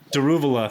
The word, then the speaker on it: Daruvala: fired um d d what's his name daruvala daruvala thank you senior Indian correspondent yeah I was